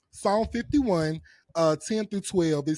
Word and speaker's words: Psalm: The P is silent. Psalm. Psalm 51, 10 through 12.